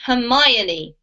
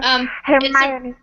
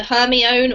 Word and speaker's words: Hermione: This name is pronounced Hermione, Anna. Thank you. Hermione. It's a really, really rare name, even in English, and most kids who read the book think it's either Hermione or sometimes Hermione, but it's Hermione.